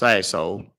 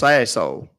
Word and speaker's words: Sassohl: It's pronounced Sassol. It's French. Asshole. What? What's your last name? Well, it's pronounced Sassol.